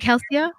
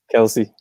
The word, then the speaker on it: Kelsey: Is it Kelsia? How do you say your sister's name? Kelsey.